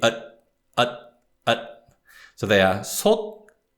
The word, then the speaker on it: 솥: But in Korean, the consonant sound stops and doesn't release. And so therefore we call it unreleased 디귿 sound.